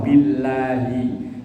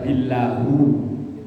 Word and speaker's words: billahi: Maka kalau setelah huruf bi, belakangnya harus dibaca kasroh, billahi. Gak boleh dibaca billahu, billahi.